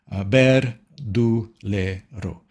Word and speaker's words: Verdulero: Would like to uh pronounce it with me? Please go ahead. Follow the bouncing ball. Ber duelo.